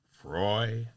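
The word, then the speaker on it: Froy: finally we hear her say it rhymes with Joy Frey Joy all right so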